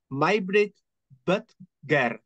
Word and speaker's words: Majbrit Bøttger: So I would like to welcome our honored guest and now excuse my pronunciation with the Danish word Majbrit Bøttger.